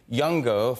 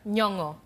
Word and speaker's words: Nyong'o: It's so tricky because I was saying Yongo for your last name. It could be Nyongo as well. Was I pronouncing it right? Nyongo. Nyongo. Yes. Yes. I got it right.